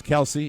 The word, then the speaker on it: Kelce: It's Kelsey. How It's do you Kelsey, spell it? right? K. You don't make it worse than it is by K-E-L-C-E. asking me to spell it. Thank you. Phonically, It's Kelce.